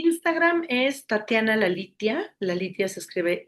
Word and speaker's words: Lalitya: La litia se escribe l a l.